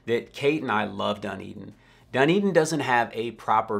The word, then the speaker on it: Dunedin: the third one on our list today is Dunedin Florida and I really struggled with this when